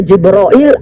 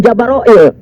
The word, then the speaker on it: Jibril: Dan juga ada juga di mana Jibril ini kan tadi ada yang dibacanya Jibril, Jibril, ada yang dibacanya Jibrail, ada yang Jabaroil.